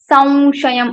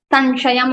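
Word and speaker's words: संशयम्: That's why we say Samshayam. Anuswara sound will be converted into Va Anunasik. We say Samshayam. We don't say Sanshayam or Samshayam.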